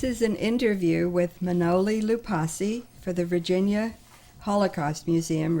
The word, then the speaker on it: Loupassi: Last name is pronounced Loupassi, L-O-U-P-A-S-S-I.